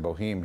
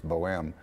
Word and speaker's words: Boheme: the Beltway those two they pronounce it Boheme here but it's Boheme these are the Opera streets Boheme being one of them so this is and